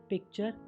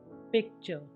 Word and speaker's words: picture: यहाँ पर आपने देखा कि S के बाद TION आया तो और T के बाद URE हो तो T का उच्चारण च हो रहा है, जैसे क्वेश्चन, कल्चर, नेचर, पिक्चर।